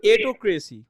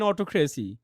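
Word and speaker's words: autocracy: বড় হইছেন না আপনি কি বলা উচিত ছিল এটোক্রেসি রাইট জি ভাইয়া তাহলে আপনি কেন বললেন অটোক্রেসি ইউ R liar you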